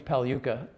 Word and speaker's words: Pagliuca: Well, the good news is my name is Paluca. Exactly. With a silent G and and you